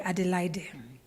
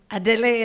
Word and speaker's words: Adelaide: It has a silent E at the end. All of my primary school teachers used to call me Adelaide.